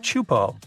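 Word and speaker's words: Teahupoʻo: It's pronounced Chupo, and it means broken skulls in Tahitian.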